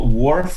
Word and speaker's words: WRF: we pronounce it dwarf like fisherman's wharf anyhow so wharf is um it's